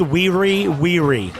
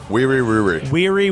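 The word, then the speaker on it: Wiri: It's Weary. Wee wee wee wee? Yeah, W-I-R-I, W-I-R-I. Weary. Weary. I think so. Like very weary, but Yeah, but pronounced two that of way?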